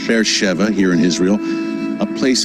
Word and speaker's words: Beersheva: an incredible spot to be with you tell bear Sheva bear Shiba it reads on the page but it's pronounced faire Sheva here in Israel a place of incredible biblical